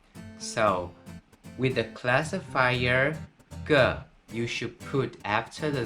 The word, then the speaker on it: 个: It's pronounced in Mandarin, ge, ge.